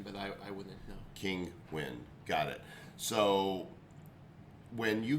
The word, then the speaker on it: Kinguin: seller terms of service kenguan kinguin spell it uh king uin king win i thought it was